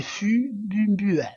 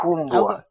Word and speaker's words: fumbwa: Donc moi ce que je lis c'est Fumbua. Voilà, Fumbua. Alors Ah, Fumbua. ah, les Fumbois. Pardon, j'étais sous boule. J'ai Les mal Fumbois. prononcé? On dit les Ah, Fumbois.